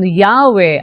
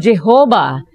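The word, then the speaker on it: Yahweh: While inclining to view the pronunciation Yahwe as the more correct way, we have retained the form Jehovah because of people's familiarity with it since the 14th century.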